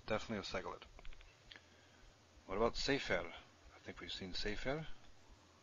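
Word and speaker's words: סֵפֶר: What about sefer? I think we've seen sefer. Stress on the first syllable and a segol on the second.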